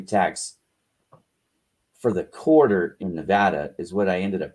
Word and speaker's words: Nevada: moved from nevada and it's not nevada i will fight you over that you people learn how to say it it's nevada no people in nevada